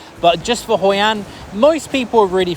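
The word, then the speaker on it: phở: local Vietnamese cuisine the food out there is very tasty and you probably would have heard of fo or f as they pronounce it in Vietnam definitely try some f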